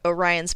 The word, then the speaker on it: Orion: a bigger boat newark orion like orion's belt i'm just kidding this gets pronounced orion because of course it